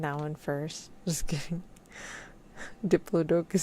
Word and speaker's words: Diplodocus: That one is sadly pronounced Diplodocus, and not funny way.